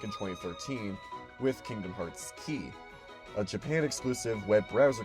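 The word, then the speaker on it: χ: wondering the x is pronounced key in reference to the Greek symbol Kai which is sometimes pronounced key the first title in this Saga first released back in 2013 with Kingdom Hearts key a Japan exclusive web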